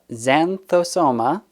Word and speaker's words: Xanthosoma: from the genus zantombossa added some extra syllables there uh xanthosoma plants known locally as